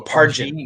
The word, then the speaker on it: Pargin: G pronounced like a J. Okay, so Pargin.